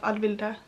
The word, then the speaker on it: Vilde: Yes, I have a name, and it is Vilde. That's how you pronounce it.